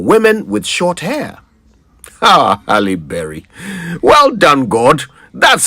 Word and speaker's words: Halle Berry: Ah, Halle Berry.